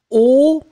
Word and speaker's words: haut: Two adjectives, masculine, o. Remember, H is not pronounced, so o, and final T either.